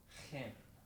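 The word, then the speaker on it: חן: This hairball combo is really the key to pronounce some Hebrew words, at least when K and H are involved. So, hen. Not just hens and a chicken, but hen.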